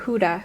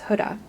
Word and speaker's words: Huda: It's not Huda, it's Huda.